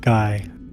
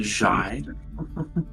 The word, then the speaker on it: Guy: Why did you name your female daughter Guy? Actually pronounced Jai.